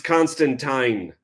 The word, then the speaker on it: Constantine: um teen yeah and John says it's Constantine like constant wine or something like that oh call